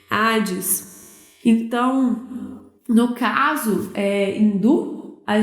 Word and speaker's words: Hades: Zeus, Poseidon e Hades, né? Hades, pronúncia meio inglesada, nada a ver. Hades.